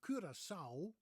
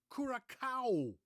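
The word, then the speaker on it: Curaçao: just heard this morning somebody pronounced the island of kurasa or kurasa As Americans would say as kuraka it's not kuraka is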